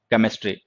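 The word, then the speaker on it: chemistry: अब देखो ये लेटर सेम है, लेकिन इनके प्रोनाउंसिएशन अलग अलग हैं। इसका प्रोनाउंसिएशन है शा, शा, ठीक है, इसका है चा और इसका है का, केमिस्ट्री।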